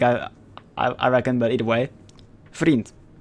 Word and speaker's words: vriend: I reckon, but either way, vriend. It's literally spelled like friend, but with a V instead of an F. Vriend.